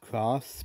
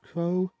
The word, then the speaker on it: Kros: with a a kros which i think would be pronounced cross but apparently it's pronounced crow but either way along